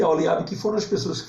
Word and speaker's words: Aoliabe: Em hebraico também o re ele é pronunciado, é o H, né? Aqui a gente ignora homem, ora, passa por cima, ignora o H, mas em hebraico o H é pronunciado, né?